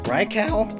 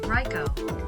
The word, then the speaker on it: Raikou: like boy oh boy I still can't pronounce Raikou rikal pronounce Rye ryko ryko yeah that makes sense but gosh they took